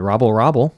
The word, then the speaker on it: Robel: When asked before the game how to pronounce Robel's name, he said Robel, like the Hamburglar.